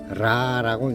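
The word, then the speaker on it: רע: 악은 라라고 읽는데요. 히브리어 라.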